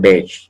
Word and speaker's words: beige: En español nosotros decimos beige, pero en francés es beige, ¿no? Se pronuncia como, como la E, ¿no?